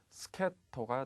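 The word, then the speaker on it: 助っ人: 스케토가 되겠죠. 특수하게 발음을 하니까 반드시 주의를 하시기 바라겠습니다. 정답은 D가 되겠죠. 코코로지의 스케토니 타스케라레 나가라.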